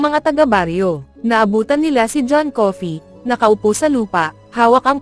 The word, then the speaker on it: Coffey: Your name is John Coffey. Yes sir, boss. Like to drink, only not spelled the same.